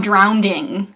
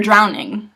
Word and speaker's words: drowning: in past tense but a lot of people say I'm drownding well no you're not you're drowning sorry go by I